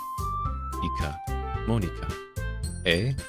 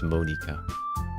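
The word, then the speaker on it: Monika: write in your name Mona Monica a it's not how you say my name at all yeah it's Monica also that joke makes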